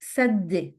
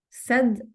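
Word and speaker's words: سدّ: لام سلم سلم plug سد سد double دال سد finally a hanger for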